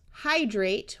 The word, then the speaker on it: hydrate: Elevate, emulate, hydrate, where the Y has a long I sound.